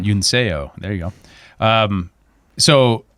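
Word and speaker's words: Yunseo: So, Uno Chung, I think I pronounced her first name right. Yuno Chung. Yuno.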